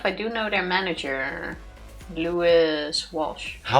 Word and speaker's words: Louis: Pronounced Louis, not Louis.